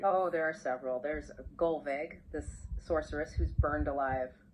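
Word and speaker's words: Gullveig: There's Gulveg, this sorceress who's burned alive 3 times. Oh, wow. Gulveg, okay. Good. Correct pronunciation for her as well.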